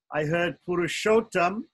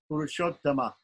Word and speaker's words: Purushottama: Purushottama. Purushottama. We don't say Arjun, we don't say Purushottam, we say Purushottama in Sanskrit. It's a short A at the end, but it still has to be there.